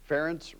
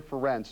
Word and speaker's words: Ferentz: all of his success Kirk Ferentz still manages to have his name mispronounce time and time again Des Moines musician Pat McManus best known for his work with rock and Prevention tries to make it easy with his song ference rhymes with parents take a listen that